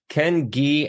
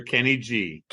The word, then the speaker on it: Ken Gee: I always tell everybody's like I want to pronounce the name the way that it that your mother has says it right so Ken G and I'm sure that you hear it all